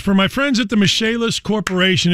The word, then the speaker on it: Michelis: Michelis is spelled like Michael is.